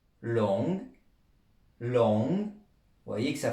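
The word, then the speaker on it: 龙: prononciation alors sa prononciation longue long vous voyez que ça fait penser à à long déjà ça s'écrit comme le mot être long et on prononce un peu le G long ça veut dire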